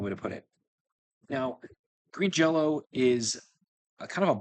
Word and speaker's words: Green Jellÿ: Green Jello Xmas. They're, by the way, they're spelled Green Jelly, but they're pronounced Green Jell-O.